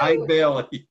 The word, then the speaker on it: Eide Bailly: It's Eide Bailly. I don't feel so bad, but Eide Bailly.